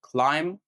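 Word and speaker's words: climb: اللي هو البي الخفيفه ويجي قبله ام ما بنطقش البي زي مثلا ضم ضم يعني غبي وكلايم يعني اتسلق كلايم وبلامر بلامر يعني سباج تاني قاعده معانا هي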